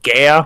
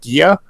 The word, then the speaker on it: Gaea: There actually is an alternative spelling of Gaia, which is Gaea, which many people would pronounce as Gaia, which is incorrect. It would actually be pronounced Gia, but the most common pronunciation that I've heard, Oh, the Carmen Gia.